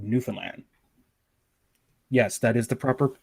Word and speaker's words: Newfoundland: aren't aware, I'm actually from an island called Newfoundland. Yes, that is the proper pronunciation. Not too many people, Newfoundland. No, it's Newfoundland. Newfoundland.